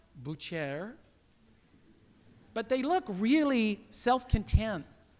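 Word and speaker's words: boucher: kamis uh these are butchers in Paris it's pronounced Bucher but they look really self-content they look very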